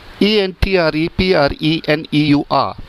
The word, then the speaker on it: entrepreneur: The next word is ENTREPRENEUR. The correct pronunciation is entrepreneur.